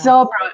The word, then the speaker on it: Zabra: to pronounce it wrong. Zabra. Yeah. It's Zabra, Afreebra initiative.